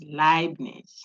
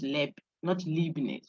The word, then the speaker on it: Leibniz: So Ein, Heineken, those who drink that, high, you see, EI, but it's not hey, it's high. Okay, so that if you see Leibniz, that's Leibniz, not Leibniz or something like that.